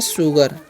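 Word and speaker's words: sugar: एस यू जी आर है तो इसमें पढ़ते हैं शुगर। क्या पढ़ते हैं? शुगर।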